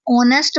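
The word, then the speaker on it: honest: इसे इसमें एच जो है वह साइलेंट होता है। ऑनेस्ट पढ़ा जाता है जो कि ओ से स्टार्ट हो रहा है।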